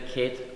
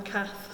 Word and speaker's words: Cath: So, do you like the Kate or not Kate? Kate. I'm not Kate either, no. Not Kate? No, I'm Cath, C-A-T-H. Yeah. Yeah, my pronunciation is different, but we write your name like this, C-A-T-H. Yeah, but Cath. I'm quite happy whatever it comes out as long as it starts off here as Cath.